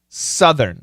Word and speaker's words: southern: Northern California, southern. It's a short U. Southern. Southern California. And those TH sounds are very important.